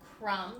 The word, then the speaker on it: crumb: Notice they always have an M before a silent B. So words that look like crumb, the first word you see there. Silent B, but there's an M first.